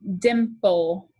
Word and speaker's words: dimple: mark there is a consonant after the vowel so it will have a brevi it is a short i sound in dimple dimple okay riddle has